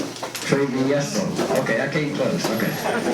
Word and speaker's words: Travieso: Travieso? Travieso.